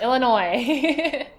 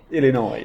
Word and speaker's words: Illinois: uh people is illino the S is silent Illinois Illinois Illinois ah this one